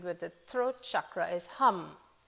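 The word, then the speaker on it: ham: the throat chakra is hum it's spelled h-a-m but it's pronounced hum as in the word humming and what this really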